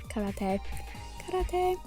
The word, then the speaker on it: karate: made who needs karate karate who knew spongebob was pronouncing it right the whole time and we were like why is he saying it weird it's no that's right he's right but um i wanted